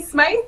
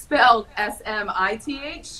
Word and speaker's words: Smyth: She is now Katie Smyth because she married a Matthew Smyth. What? But spelled S-M-I-T-H, yeah. I'm assuming, right? It's like traditional. S-M-I-T-H to S-M-I-T-H. Years of people pronouncing Smyth as Smith by mistake, now she's actually Smith.